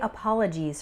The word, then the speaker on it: apologies: sounds like eyes and apologies is the noun form with the final syllable sounding like ease a couple informal expressions